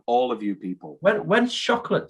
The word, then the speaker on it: Chocolat: When's Chocolate 2 coming out?